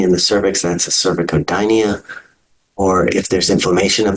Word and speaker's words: cervicodynia: it's cervicitis so again the C can be hard or soft in cervic codia it's a c k sound in cervicitis it's the S sound Hyo Metro and utero